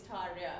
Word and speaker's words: Tarja: So her name is spelled with a J. Yeah. Right? Yeah. Yes. It's actually a Y. So when you say it's Tarya, Absolutely.